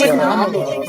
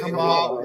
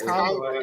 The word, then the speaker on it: Kamala: They haven't said anything about her saying it wrong. Kamala. It's Kamala, first of all. It's not Kamala. It's Kamala.